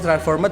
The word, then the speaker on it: transformed: Itu bacanya transformed, dibaca transform ketemu D guys, transformed gitu.